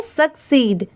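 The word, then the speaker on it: succeed: बस यहां पर क्या चेंज हुआ है? देखिए ध्यान से। एस U double C E double S की जगह पर क्या लगा दिया गया है? ई डी। इसलिए इसे हम यहां पर क्या प्रोनाउंस करेंगे? सक्सीड। ठीक है?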